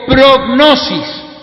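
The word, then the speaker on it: πρόγνωσις: Entonces el griego que traduce la Biblia presciencia se pronuncia en griego prognosis.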